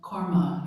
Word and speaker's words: karma: So, we turn now to the fifth or last remembrance, pronounced karma in Sanskrit, from the Hindu teachings, and kama from the Buddhist or Pali language.